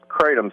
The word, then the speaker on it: kratom: Well, it's pronounced kratom, Steve, and it's new here in the United States, but it's been used extensively in Southeast Asia for the last 200 years.